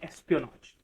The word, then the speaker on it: espionage: कैसे इसको हम प्रोनाउंस करते हैं? एस्पियोनॉज.